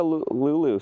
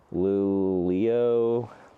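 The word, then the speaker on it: Luleå: And they want to like write it in there with like, yeah, like Lulio. Nah, it's Lulu.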